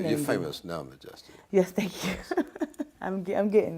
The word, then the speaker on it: M'Jestie: So I took out the A and put an apostrophe there, kind of hold the space, and pronounced it M'Jestie, and it just kind of felt good.